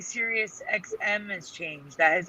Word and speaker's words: Sirius: pronounced Cirrus. Teresa remembers it as Cyrus, but it's always been Sirius.